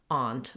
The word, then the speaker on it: aunt: the vowel a and it's the same as the word ant so you have a forward a vowel for example you could